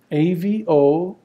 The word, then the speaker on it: Avogadro: So you can say that this number is called Avogadro's number, and I'll spell that for you, A-V-O-G-A-D-R-O, Avogadro, after the Italian chemist who conjectured that